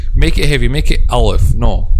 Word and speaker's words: Alif: It's called Alif, because there is a common mistake in pronouncing the name of this letter and saying Alif. This is one of the common mistakes among non-native Arabic speakers. They make lam heavier. Not heavier, it's make it heavy, because heavier than what?